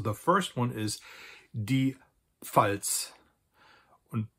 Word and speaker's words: Pfalz: So the first one is die Pfalz. And Pfalz in English means Palatinate.